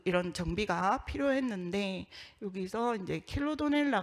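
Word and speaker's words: Chilodonella: 정비가 필요했는데, 여기서 이제 킬로도넬라 같은 경우에는 제대로 읽는 게 킬로도넬라이다. 그러니까 킬로도네라라고 표현하는 것은 잘못됐고 킬로도넬라이다 라고 제시를 해주셨고, 그 다음에 피시리케차 살모니스라고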